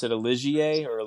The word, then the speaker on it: Ligier: buy like a used did you pronounce it a Ligier or a Liger? Ligier.